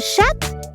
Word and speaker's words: chat: article for female and shat is female cat in shat if we don't know the gender of the cat the neutral way is to say it like a male cat a sha now how do we